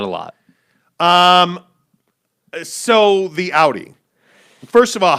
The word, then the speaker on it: Audi: do you pronounce it i would say like ow ow that hurt audi yeah that's how i